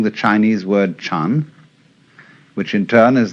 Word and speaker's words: Chan: So then, this word Zen is Japanese way of pronouncing the Chinese word Chan, which in turn is the Chinese way of pronouncing the Sanskrit word jhana.